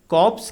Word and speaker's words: corpse: Answer के sentence number 5 में कॉप्स की स्पेलिंग पर ध्यान दीजिए। CORPSE। यहाँ पर R फॉर राहुल साइलेंट है तथा इसका अर्थ होता है अ डेड बॉडी, अर्थात शव या लाश।